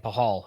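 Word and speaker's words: Pachal: So we got Silent C. Braden Pahal is how you pronounce it.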